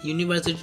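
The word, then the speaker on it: university: जैसे लिखा है यूनिवर्सिटी यूनिवर्सिटी में पहला वर्ड यू यू क्या है बवेल तो बवेल होने के बाद भी इसका उच्चारण क्या आ रहा है य य आ रहा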